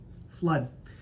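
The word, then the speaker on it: Fludd: Her husband's last name, Flood. F-L-U-D-D. Flood.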